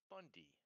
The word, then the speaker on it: Boundee: But the problem is that the last name is Boundee, and it's pronounced as Bundy.